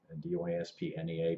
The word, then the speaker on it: dyspnea: Shortness of breath, also called dyspnea, D-Y-S-P-N-E-A, but the P is silent, so it's dyspnea.